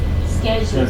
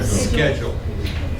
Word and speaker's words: schedule: one down here uh schedule schedule like scholar like school but also if you go to other countries they may pronounce this schedu so you hear this